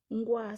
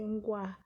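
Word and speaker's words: Nkoa: Ngwa s'écrit N-K-O-A. C'est Ngwa.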